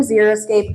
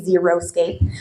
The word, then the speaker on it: xeriscape: First of all, most people can't say it right. They say xeroscape, and that's not how you say it.